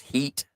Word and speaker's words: Hit: so there's hit it's it's actually pronounced Heat or hit and on what part